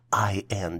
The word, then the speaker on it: indices: The plural version for indexes is spelled as I-N-D-I-C-E-S and is pronounced as indices.